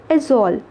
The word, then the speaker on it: Aizawl: आप क्या प्रोनाउंसिएशन करोगे? एजोल।